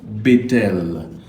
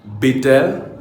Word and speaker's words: Bethel: Effectivement, le mot Bethel a prononcé Mbe. Mbe signifie maison dans les langues hébraïques du Paléo de l'ouest du Cameroun, de votre pays, de tout votre pays, du village Bachê. Et tel va se prononcer Nte.